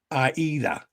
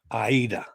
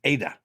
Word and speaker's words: AIDA: to my question about the i is pronounced e in aida yes that's the german cruise line so it's like the opera aida thank you carol it's i've been saying it wrong i've been saying ada so katie says she's